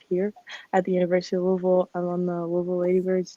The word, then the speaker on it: Louisville: It's like, is it Louisville or Louisville? And you gotta say it in the back of your throat, Louisville.